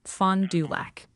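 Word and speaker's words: Fond du Lac: By the way, a lot of people in chat are asking about the voice change and they're pointing out the pronunciation is fondac.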